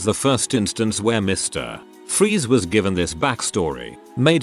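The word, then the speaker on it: Fries: to most Mr Freeze Dr Victor FR pronounced freeze was an accomplished cryogenesis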